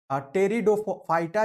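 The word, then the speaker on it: Pteridophyta: टेरिडोफाइटा जो है, इसमें पी साइलेंट होता है।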